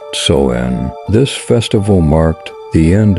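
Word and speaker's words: Samhain: had a very important festival called sa when pronounced soen this festival marked the end of Summer and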